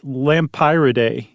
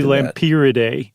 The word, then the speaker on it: Lampyridae: I think it's Lampyridae. I think that's about right. Because pyro, like fire, like the bright. It could also be Lampyridae.